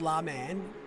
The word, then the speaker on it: Le Mans: pyro's picture thing no it's called it's pronounced la man i'm just off to